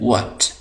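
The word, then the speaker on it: what: इसको हम पढ़ते हैं व्हाट, व्हाट। तो ये समझ लें कि ये एच है, हम इसको नहीं पढ़ेंगे। इसी तरह यहाँ पर जो डब्ल्यू है इसको हम नहीं पढ़ेंगे, डब्ल्यू साइलेंट है, तो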